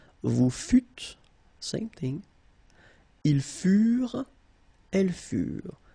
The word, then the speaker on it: furent: Ils furent. Elles furent. Keep in mind that ENT, you know, the ending for the plural form is never pronounced, though. Furent.